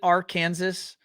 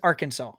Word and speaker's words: Arkansas: from little rock okay and does anyone actually pronounce it are kansas or is it always arkansas it's always arkansas okay all right i mean